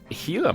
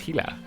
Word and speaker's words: Gila: like carrots and stuff The Gila monster which apparently the comment section told me is pronounced hila I don't know if that's true I'll Trust you though